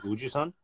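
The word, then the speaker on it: 우주선: And he said, uju son, like uju son, like that in Korean, if you say it like quickly, like uju-san, that means a spaceship.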